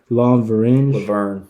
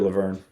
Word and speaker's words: Lauvergne: to the Oklahoma City Thunder in exchange for Joffrey Lonverange. Joffrey Laverne. That's how that's Yeah. pronounced. He Wow. sucks. All right, Lauvergne Yeah, is Laverne.